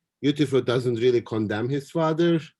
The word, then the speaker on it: Euthyphro: How did you pronounce it? Euthyphro?